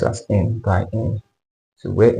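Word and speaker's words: n × n: WR form is n * n but it's pronounced as n by n so where M by n or M by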